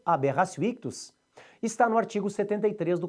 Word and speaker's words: aberratio ictus: Já o erro na execução, que é em latim aberratio ictus, você escreve aberratio com o T e pronuncia com o som do C, aberratio ictus, está no artigo 73 do Código Penal.